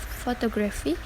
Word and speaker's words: photography: The final syllable and the antepenultimate of photography are unstressed, as is the syllable before the antepenultimate syllable.